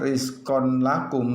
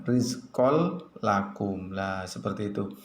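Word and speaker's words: رزقا لكم: hudallimuttaqin seperti itu jadi tanwinnya dimasukkan kedalam lam yang berikutnya rizqollakum bukan membaca rizqon lakum tapi harus dibaca rizqollakum ya itu contoh-contoh tentang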